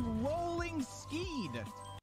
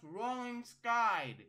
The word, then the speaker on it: Rolling Sky: What is rolling ski? Oh, come on, Jimmy. That's pronounced rolling sky.